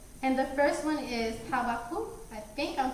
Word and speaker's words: Habakkuk: So Habakkuk?